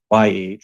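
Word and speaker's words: יה: I-A to the, so I-E, it's pronounced Yah, like they transliterate J-A-H or Y-A-H, right?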